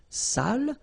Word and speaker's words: sale: So if you don't put the accent, it means dirty, and then you pronounce it sale.